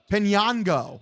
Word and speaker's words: Piñango: Got Yohendrick Piñango, or Pi- Pinango? Pinango. That's how you pronounce his name.